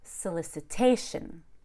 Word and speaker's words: solicitation: to the left so in this case we stress the a solicitation now in English we also have the rule of alternating stress where you stress approximately every other syllable solicitation solicitation so I stress not only the a but also the LIC gets secondary stress it gets the second most amount of stress but that s zero at the beginning that's super reduced it's just some solicitation okay check out my